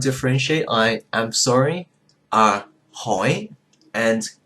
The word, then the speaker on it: hỏi: If you go to Vietnam, you will hear it distinctly when it's pronounced by the northerners, but you go to the south, they just pronounce it as the same thing.